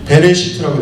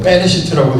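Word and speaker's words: בְּרֵאשִׁית: 여러분 태초로 번역돼 있는이 히브리어는 베레 시트라고 돼 있어요 베레시트 뭐 빼레 시트라고 읽기도 하고 베레 시트라고 읽는데이 말은 정확하게는 뭐냐면 시간의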